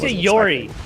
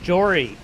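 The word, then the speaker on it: Jori: cuz I really Yori it's Jory with a J is that like actually no it's not okay I mean you can pronounce it Yori I will.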